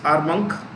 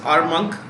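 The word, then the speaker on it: Armonk: state new york state a r m o n k m o n k is not monk it's monk like old monk okay so this is our monk new york state u.s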